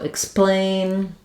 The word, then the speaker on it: explain: So for the word explain, we have the k and s sound because what follows letter X is a consonant sound. So explain, exclude, exception, all of